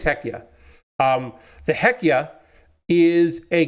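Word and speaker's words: Hekija: how to pronounce it it's h e k i j a so I think it's heya um the heca is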